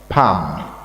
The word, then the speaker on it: palm: Silent. Palm. Palm. No L. Pam.